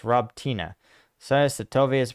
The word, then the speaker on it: Robotyne: maybe David Molinaro says Paul Slavic words ending in an e having uh sounds so robtini is pronounced Rob Tina so satovia is pronounced